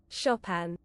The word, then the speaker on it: Chopin: I remember Shopen. Shopen. I don't know. Shop. I don't know what it's pronounced. Let's ask Google how to shop. Shopan. Oh, you're right. Shopan Shopan. I didn't know that.